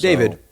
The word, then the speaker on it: D4vd: So, David, forgive me uh for being old. Um, David, the four is an A. It's like short. Sure. David, it's Le speak.